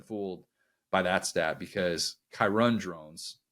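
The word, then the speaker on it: Kyron Drones: by that stat because kirun drones that's actually how you pronounce his name I got it wrong last time too um he was not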